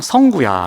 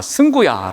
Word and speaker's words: 승구: 그래서 제가 늘 발음을 가르쳐줘도 급하면 항상 성구야 라고 부릅니다. 성구가 아니라 승구야 라고 아무리 해도 그게 잘 안 됩니다.